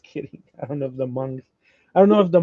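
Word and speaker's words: Hmong: I don't know if the monks I don't know if the monks do rain dances. I don't know. Right. H M O N G. Uh the the H is silent.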